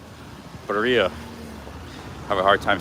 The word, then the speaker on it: birria: Here's the birria place, Birria Tacos.